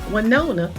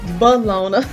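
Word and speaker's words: Willona: neighbor and family friend wona when I was a child I always called this character balona I I never knew until I got older the proper pronunciation for that character but good time was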